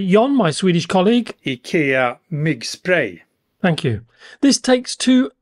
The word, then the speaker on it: Myggspray: Let's have a closer look now, starting with the company's motion sensor, pronounced by Jon, my Swedish colleague. IKEA Myggspray.